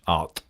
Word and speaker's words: Ard: more about my project Art. It's spelled A-R-D, but the D is like a hard TH, Art.